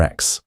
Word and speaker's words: X: Grime without a doubt said it is just X just like the letter X.